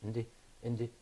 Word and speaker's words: independent: Also, ent is a suffix. Dependent. Yeah. Independent.